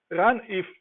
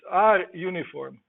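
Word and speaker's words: runif: random uniform distribution but many will say Oliver run if but it's our uniform so there's a blog it explains that you don't pronounce it like that if you do it on some our conference they will laugh at you let me see if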